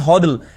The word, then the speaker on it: HODL: Because of this, it began to be pronounced as hodddle.